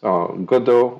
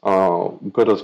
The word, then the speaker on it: Godot: I think no one is really sure how to pronounce Godot or as a project. I'm going to trust my French and just pronounce it Godot.